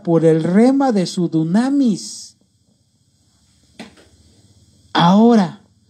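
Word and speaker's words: δύναμις: La palabra poder es la palabra que en el griego dice, se escribe, se pronuncia dunamis, que significa fuerza, específicamente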